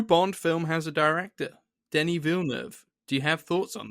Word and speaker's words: Denis Villeneuve: The new Bond film has a director, Denis Villeneuve. Do you have thoughts on this? Denis Villeneuve. No, Oh, sorry, did I pronounce it wrong? no, Denis Villeneuve.